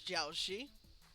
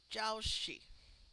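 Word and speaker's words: 饺子: Yep, jiaoxi, dumplings, We got the which we are having Jiao Shi.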